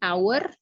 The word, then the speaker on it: hour: tidak ikut dibaca ya jadi our contohnya dari tulisannya H tapi cara bacanya our tulisannya honor cara membacanya Hor ya it's been an hour